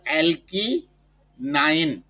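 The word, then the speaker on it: alkyne: উচ্চারণটা হলো অ্যালকি নাইন, মানে আমরা যে বলি 8 9 ওই 9, অ্যালকি নাইন, অর্থাৎ অ্যালকিন যোগ আইন, অ্যালকিন আইন।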